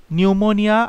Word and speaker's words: pneumonia: Question number 93, নিউমোনিয়া। আগে একবার বলেছিলাম সামনেটা পি বসে, পির উচ্চারণ হয় না, তাহলে পি নিউমোনিয়া বলতে পারো মনে রাখার জন্য।